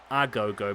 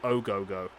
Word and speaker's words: Ogogo: name wrong haven't i i keep putting a gogo but it's actually oh gogo no he's not actually